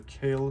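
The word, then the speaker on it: Kailh: Again, this is a kale switch. K. It's spelled it.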